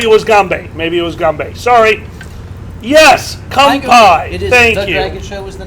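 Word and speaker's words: 乾杯: ] you too okay in japanese it's kampai in cantonese it's gombe oh maybe that maybe it was gambe maybe it was gumbay sorry yes kampai thank you show was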